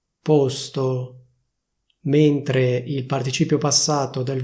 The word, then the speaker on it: posto: Teoricamente bisognerebbe dire così, cioè posto con la O chiusa. Questa sarebbe la pronuncia ufficiale, quindi porre, posto. Però se vuoi sembrare più figo oppure più figa e parlare come si parla a Milano, puoi dire posto con la O aperta.